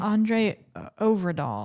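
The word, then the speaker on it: André Øvredal: Andre Overdahl.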